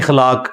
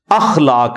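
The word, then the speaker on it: اخلاق: साथ होते हैं मसलन यह लोग बोल देते हैं खलाक खलाक लफ्ज नहीं है अखलाक लफ्ज है तो अगर हम यह लफ्ज यूज करेंगे तो अलिफ के ऊपर जबर डालेंगे इस तरह इंग्लिश के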